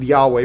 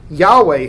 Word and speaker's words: Yahweh: God gives his name we think it's probably pronounced Yahweh we're not 100 sure but that is the